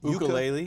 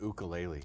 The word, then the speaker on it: ukulele: Both are correct. Ukulele? Yuka or uka. I'm saying ukulele.